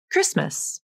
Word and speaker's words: Christmas: You're probably already using this in words like Christmas There's no T in Christmas.